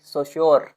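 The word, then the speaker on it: Saussure: इसका स्पेलिंग है एस ए U double S यू आर ई ससोर ससुरे ससुर भी बोलते थे हम पढ़ते थे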